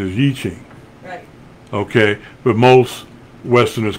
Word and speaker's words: I Ching: is called the I Ching well the correct pronunciation is eaching okay but most Westerners call it the I Ching and Christians will say almost from the devil